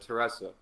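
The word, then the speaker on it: Theresa: You know, I've actually grew up there longer than you, and I believe it is Teresa. Okay. Silent H.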